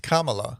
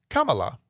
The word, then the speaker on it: Kamala: You know, obviously he did pick Kamala Harris, and it is pronounced Kamala. So think of like the word comma and with la. Kamala.